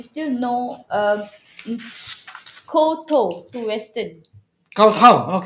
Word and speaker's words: Kowtow: Kowtow. Kowtow. Because Kowtow it's means spelled like KOWTOW.